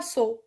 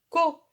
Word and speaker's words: co: On ne dit pas so. Non. Elle se prononce co.